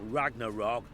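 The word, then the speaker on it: Ragnarök: son should suffer till ragnarok the day after actually it's a double o it's a long o sound it's what i do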